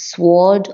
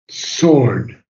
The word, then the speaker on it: sword: It's sword of discernment seen. Okay. Sword. You don't pronounce the W.